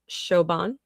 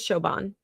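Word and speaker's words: Siobhan: calling our baby uh Shoban, I think, is how that's pronounced. I know it's not pronounced like how it's spelled. That I know the Irish do that. So, um I think is Shoban.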